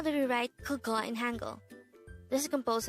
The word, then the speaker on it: 그거: The first one is 그거. This is pronounced as a two-syllable word.